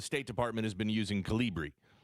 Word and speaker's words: Calibri: Calibri. Calibri.